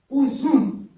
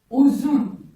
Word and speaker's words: uzun: Il se prononce OU. Ou, comme exemple, j'ai mis uzun, qui veut dire long ou bien longue. C'est une taille, par exemple, long ou longue. Ou, uzun.